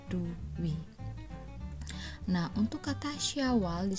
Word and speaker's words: dwi: Kemudian selanjutnya untuk kata dwi. Nah, ini pun sama, bukan da dimatikan kemudian wa diberi ulan i. Nah, ini salah. Yang benar dibacanya adalah duwi. Jadi da diberi bitan u dan wa diberi ulan i, jadinya duwi.